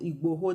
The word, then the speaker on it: Igboho: me when I saw the Sunday iGo I think that's the correct iGo that's the correct pronunciation doing presenting a petition